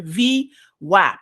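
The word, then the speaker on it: VWAP: weighted average price the v lap if you if you need to know how to pronounce this it's v and then whap like your apps on your phones right so there you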